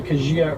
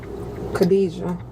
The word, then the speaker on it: Kadijah: And you went by Kajia as well. Kadijah. That's that's how you pronounce my name.